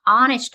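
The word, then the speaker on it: honest: Answer హానెస్ట్ అనే యాన్ హానెస్ట్ అనే పదం హెచ్ సైలెంట్ దీని ఉచ్చారణ హానెస్ట్ అచ్చు తో మొదలవుతుంది కాబట్టి యాన్ అనేది వస్తుంది.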